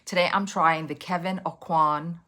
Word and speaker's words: Aucoin: Today, I'm trying the Kevin Acoin. I believe that's how you say his name. I think I've been saying it wrong forever. A coin.